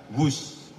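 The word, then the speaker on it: Whoosh: sistem hebat sekali lagi w h o o s h tapi membacanya wus keret cepat Jakarta Bandung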